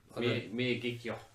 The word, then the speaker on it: Miyagikyo: Miyagikyo. Yeah, Miyagikyo. There we go. I've got it. What's on, what's off? Miyagikyo.